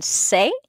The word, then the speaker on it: c'est: Don't pronounce the S on c'est or on pas.